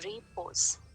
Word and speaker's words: repose: we can say re we can say pose right re is the first syllable pose is the second syllable so there are two